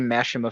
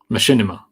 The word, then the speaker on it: Machinima: like one of those early mashima films or something like that Machinima yeah or Machinima I keep pronouncing it why do I keep pronouncing masim I keep pronouncing it like that for some reason I